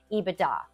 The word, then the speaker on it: EBITDA: But most people are going to pronounce earnings before interest, tax, depreciation, that acronym, they're going to pronounce it EBITDA.